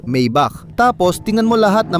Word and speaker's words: Maybach: Paano mo ba ito binibigkas? Maybach.